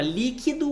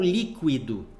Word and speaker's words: líquido: Mesma forma, líquido ou líquido, tanto faz. As duas formas são corretas, são aceitas, tá?